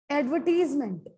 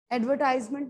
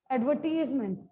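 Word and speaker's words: advertisement: नो, नो, नो, एडवर्टीजमेंट। एडवर्टाइजमेंट नहीं है, एडवर्टीजमेंट।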